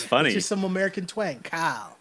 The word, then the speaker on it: Kyle: all mispronounce his name it's not Kyle with two syllables it's cow cow cow Lowry that's just that's